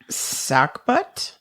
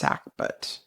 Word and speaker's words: sagbut: So the word is sackbut, but it's spelled SAGBUT, but it's pronounced sackbut.